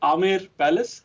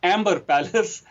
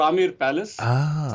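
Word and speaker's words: Amer Palace: be the great huge large palace called the Amir Palace unfortunately it is spelled as a m b r so it is pronounced as Amber Palace which is uh very incorrect way of pronouncing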